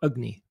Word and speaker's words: agni: speak um and and the other is called agni or it's spelt acne but it's pronounced agni so this agni is the ability to digest